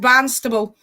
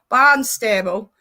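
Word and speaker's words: Barnstaple: unstable yeah i think i think it's pronounced banstable so you don't actually go barnstable people's names and the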